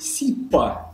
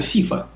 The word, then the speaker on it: Сифа: И научном центре, именуется игрой «Сипа». Но это абсолютные глупости, потому что это «Сифа». И никак иначе.